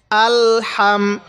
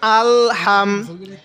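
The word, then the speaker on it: الحمد: এই মিমের সাথে হাম আলহাম এখানে অনেকে আমরা আলে হাম এরকম করে পড়ি এরকম করে পড়বো না আলহাম তাহলে কি বললাম আলহামদু দাল পেশ দু আলহামদু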